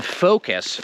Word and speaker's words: focus: so okay now that we know about the o that we say fo and not fall now it's time to talk about the u i think that in many languages the letter u is pronounced and i'm not sure if we pronounce it like that in english language maybe sometimes i'm not sure i don't have any examples right now but definitely in focus we don't say that in focus it's almost like an es